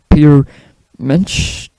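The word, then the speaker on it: Peter Mensch: At the time, the band also had signed up with new management, firing their manager Michael Browning and hiring a guy called Peter Menish, that's how you say his name, who was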